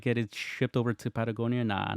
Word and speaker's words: Patagonia: Can you take your Patagonia to? Am I saying it right? Yeah. Patagonia is yeah. You said it right.